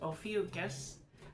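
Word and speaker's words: Ophiuchus: It is pronounced ofus.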